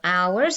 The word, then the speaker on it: hour: gonna do today is the silent h as in school so we've got school we've got hours so this is the hour as in time it